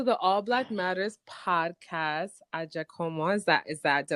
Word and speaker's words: Agyakomah: well welcome to the all black matters podcast at jaka is that is that did I pronounce it correctly yeah at jaka you got it there we go there we